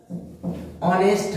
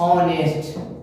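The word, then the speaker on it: honest: लेते हैं ऑनेस्ट मैन, ये देखिए ये भी एच से शुरू है, लेकिन हम इसमें ए नहीं लगाएंगे। क्यों नहीं लगाएंगे? क्योंकि उसका उच्चारण जो है वह क्या हो जाएगा, ऑनेस्ट मैन। यह जो है यह आपका कॉन्सोनेंट नहीं रहा, यह आपका वॉवेल हो गया, ठीक है।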